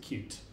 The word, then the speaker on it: Qt: Well, QT, they prefer, first of all, they like you to pronounce it cute, which I just can't bring myself to do. So to me, it's QT, and that's what we're going to call it.